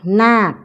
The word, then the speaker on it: นาค: พยาน นาค พญา นาค นาค สะกด ด้วย ค ควาย ออก เสียง เหมือน ก ไก่ สะกด นอ อา ก